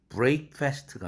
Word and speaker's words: breakfast: 그런데 발음이 breakfast가 아니라 breakfast죠. breakfast. break입니다. break. 철자는 EA로 되어 있고 본래는 break라는 동사에서 왔지만 어떤 사람은 이걸 갖다가 breakfast라고 그래요.